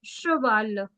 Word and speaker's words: cheval: CH, I told you, is pronounced as sh. So it's cheval.